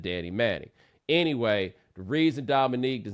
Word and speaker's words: Dominique: you may notice that I always call Dominique Dominique I always say all three syllables he does not like to be called Dom and there's only one neek and he used to